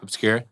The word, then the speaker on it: Obskür: OBSKÜR, how are we? Good, man. Thanks for having us on, lads. OBSKÜR or OBSKÜR? OBSKÜR.